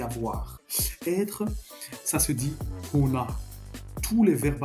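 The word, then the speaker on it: होना: Être, ça se dit hona. Tous les verbes à l'infinitif se terminent par na en hindi. D'accord? Donc en profondeur, c'est ho plus na. Bien prononcer le H. Ho, c'est pas o, c'est ho.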